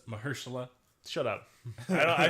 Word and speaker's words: Mahershala: I was really into Luke Cage until Marshall Ali died. And then I didn't care anymore. I believe it's Mahershala.